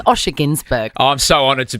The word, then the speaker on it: Günsberg: Osher Günsberg is joining us next.